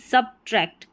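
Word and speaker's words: subtract: ठीक है, यहाँ पर बी साइलेंट नहीं है, बोला जा रहा है वही सेम कि सब्ट्रैक्ट।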